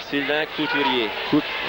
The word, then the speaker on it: Sylvain Couturier: Sylvain Couturier. Okay. It's the R. We pronounce the R more than you guys.